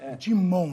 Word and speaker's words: Dumont: Dumont é um sobrenome francês. Francês, Dumont, né? Seria Dumont, a pronúncia.